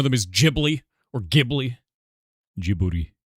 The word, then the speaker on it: Djibouti: Djibouti? Djibouti? That's how it's supposed to be pronounced. I might. No, I'm checking it. Yeah, Djibouti.